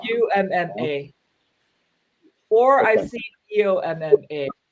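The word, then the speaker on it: 엄마: It's Yumma. UMMA.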